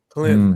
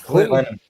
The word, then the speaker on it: Clinton: Sean, you gotta be careful when you pronounce that. You're getting a little too much T in that. Yeah. Clinton. Clinton. Mhm. Well, that's The Leave double that M. T off. Yeah. Clinton. There ain't no T Clinton.